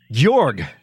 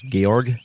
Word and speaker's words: Georg: the game he's very strong Prime indeed yes jorg the correct pronunciation is Georg yeah Georges tell me all about Georg Chris